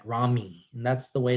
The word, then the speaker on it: rami: pronunciation of that yes it does sound like r-a-w-m-e like rami and that's the way it's pronounced uh contain autonomic nerve fibers that join ventral rami in theoretic regions one